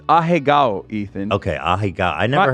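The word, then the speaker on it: アヘ顔: How do you say it? Ahegao.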